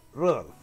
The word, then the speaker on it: Rudolf: nombre es el nombre de este hombre se pronuncia rudo debe odiar al abuelo por llamarla así pero